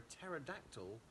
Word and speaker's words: pterodactyl: Why do you never hear a pterodactyl in the toilet? Because the pee is silent.